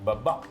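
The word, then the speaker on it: babà: rum with double B, we have double the B, baba, and Ah, then this- we have the accent on the last this A.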